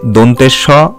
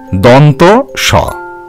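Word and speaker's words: দন্ত্য স: এটিকেও কিন্তু ভুলভাবে দন্তের স বা অনেক কিছু উচ্চারণ করা হয়ে থাকে, তোমরা সেই উচ্চারণগুলি মাথায় নেবে না, তোমরা সঠিকভাবে বলবে দন্ত স।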